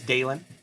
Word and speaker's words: Dalen: here with me remember my name is dalen d a l e n like Dale plus n and there's a reason